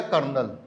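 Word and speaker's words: colonel: अलग सेपरेटली अलग अलग कोलोनल क्या हो यह हो गया कर्नल यह क्या हो गया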